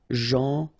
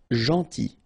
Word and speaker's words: gentil: So it's a strange one because here this final L is not pronounced. Okay? Gentil. Gentil.